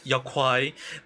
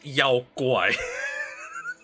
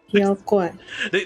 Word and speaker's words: 妖怪: the Black Myth Wukong they pronounce it as Yao Kuai. It's actually pronounced as Yao Guai. Yao Guai.